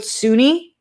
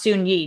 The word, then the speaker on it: Soon-Yi: Glenn says no big deal, but it's pronounced Soon-Yi. No, I don't think so. It's spelled Soon-Yi. I think it's pronounced Suni. Glenn, you can let me know if I'm wrong, but in the doc